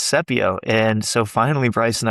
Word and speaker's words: Sepio: then we came to protect in Latin with Sepio, and we're like, cool. And then lo and behold, our attorney says he kept calling it Sepio, yeah. and we're like, dude, it's Sepio.